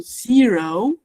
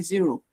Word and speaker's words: zero: O the letter O say O. So zero say zero.